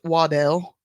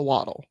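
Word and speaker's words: Waddell: to our other episode I am well aware it's probably pronounced wadell but him he's a waddle Waddles waddle arrived and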